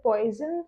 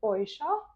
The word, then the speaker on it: Poisson: Some will call it poison, some will call it POA. Both the pronunciation are correct in their own way.